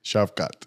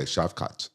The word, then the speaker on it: Shavkat: Shavkat. Okay, Shavkat.